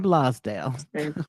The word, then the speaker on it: Blosdale: I'm trying to make sure I pronounce it right. Christine Blasdale.